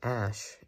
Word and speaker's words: æsc: So, you're like, well, how does S-C give us the sh sound? Well, probably wasn't pronounced that way in Old English or even Middle English. But in Modern English, it is pronounced that way because of an interesting thing.